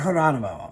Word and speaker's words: Geronimo: like sarah geronimo and it's spelled geronimo but it's sarah geronimo and i was like